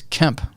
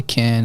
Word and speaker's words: Kemp: yeah, hi, this is Kemp with Legendary Marketing, because my real name is Kemp, K-E-M-P. And they would always say, oh, hi, Ken. I'd say, no, it's Kemp. Sorry, Kent.